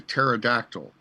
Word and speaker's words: pterodactyl: Like a pterodactyl. You won't hear me because the P is silent.